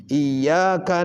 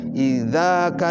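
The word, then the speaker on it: إياك: Iyyaka na'budu wa iyyaka nasta'in. Dibacanya idzaka na'budu wa idza. Iya dibaca idza.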